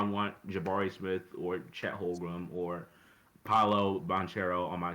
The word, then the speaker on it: Holmgren: Oh my God, Chet Holmgren. Whoa, how do you say his name? Holmgren? Holmgren, I believe.